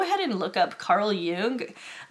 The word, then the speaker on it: Jung: And if you want to learn more about why I'm saying that, go ahead and look up Carl Jung. Some people pronounce it Jung.